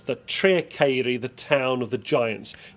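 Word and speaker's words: Tre'r Ceiri: So it's Treacheiri. The local pronunciation will vary.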